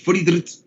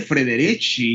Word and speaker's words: Friedrich: Acuérdense que esa IE se utiliza en alemán para alargar la I, ese diptongo. IE es para alargar la I. Es Frieden, todo es pura I, pero rápido también se pronuncia y fuerte. Es Friedrich, ¿ah? Rapidito y fuerte. Nada de Frederici ni Friederici. Es Friedrich, rápido y pronunciando todo, porque eso es lo